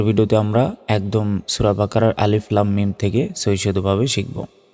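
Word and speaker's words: الم: উচ্চারণটা হবে আলিফ লাম লামে চার সেকেন্ড টান হবে কারণ উপরে মোটা চিহ্ন থাকলে চার সেকেন্ড টান হয় এবং মিম অক্ষের উপর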